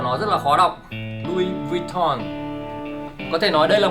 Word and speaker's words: Louis Vuitton: Sau này một bạn nó bảo cho mình thì nó bảo đọc là Louis Vuitton.